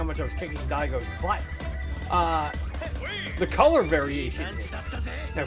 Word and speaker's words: Daigo: It is Daigo, D-A-I-G-O, and Daigo, which, if you're of Italian descent, that is not a complimentary epithet.